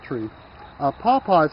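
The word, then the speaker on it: pawpaw: cool okay what we have here is a paaw tree a paaw is spelled p aw P aw and it's a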